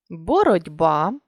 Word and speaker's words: боротьба: боротьба книжці легко жати ми бачимо що у слові боротьба буква т а звук д у слові книжці буква ж а звук зі у слові легко буква г а звук х і у слові зжати дві букви з Та ж а звук один ж подовжений чому ж відрізняється написання